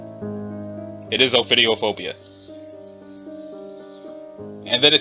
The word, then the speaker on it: ophidiophobia: is the thing that tells me how to pronounce it okay cool I had it right it is ophidiophobia and then it says data expunged analysis indicates